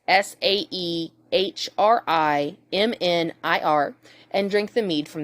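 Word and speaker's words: Sæhrímnir: from the giant pig called Sheminir, which I can guarantee I said wrong. It's Saehrimnir, and drink the mead from the goat.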